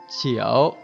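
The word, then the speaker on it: 九: Về cơ bản các bạn nhớ âm Hán Việt là cửu, trong tiếng Trung đọc là chiểu, chiểu, chiểu.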